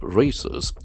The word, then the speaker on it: raise: We can find that a diff raise and the letter S has z sound also.